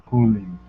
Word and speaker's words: cooling: So like a long O sound. Trips you up because blood is actually an sound, and then we have cooling, which is totally different as per the lovely English language. All right.